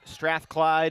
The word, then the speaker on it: Strathclyde: 30 year old engineer went to University of Strathclyde in Scotland not pronouncing that right Strathclyde yes that is correct